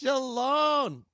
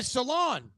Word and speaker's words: Sholon: And this week's guest, I'm excited, is Sholon. Oh my God, I said it wrong again. Sholon.